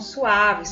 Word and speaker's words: suave: Todas elas são suaves, são mais despacito, mais leve, não tem ênfase, tá bom?